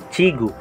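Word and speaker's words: 지구: Ito naman pong symbol kapag nasa unahan, CH naman po ang bigkas. Pero kapag nasa gitna naman po ito ng dalawang vowels, J naman po ang bigkas. J. J. Ito pong katabi ng CH. I naman po. Ito mo yung G. Kapag G naman po ang bigkas, kapag nasa second syllable, sa ilalim po ng G, yung U naman po. Chigu.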